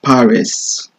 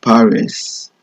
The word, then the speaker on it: Paris: by the University of Paris in um France of course so University of Paris or university par I believe I believe the S is not pronounced in French it's par s if